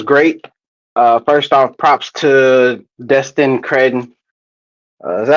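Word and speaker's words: Destin Cretton: First off, props to Destin Credden. Is that how you say his name? Yep. Yeah. Destin Credden.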